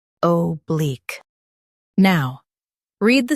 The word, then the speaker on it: oblique: Stress bleak and keep O soft.